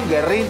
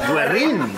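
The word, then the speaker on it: Güerrín: Guerrín, yo ya ni sé cómo se dice. Me dijeron que era Guerrín, con la diéresis Guerrín, pero la gente dice Guerrín. No escucho la palabra diéresis desde que iba a la escuela.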